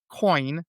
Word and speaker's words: Coyne: receives a visit from Lawrence Coin, I believe that's how it's pronounced. C Y NE who is a police officer who's also an Army active duty veteran.